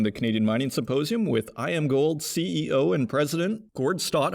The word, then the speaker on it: Iamgold: always kind of wondered was it yam gold or I am gold it is I am gold and he actually gave